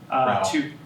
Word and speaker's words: Rao: Rao. Rao. Wow, it's literally in there, R-O-W, that's okay.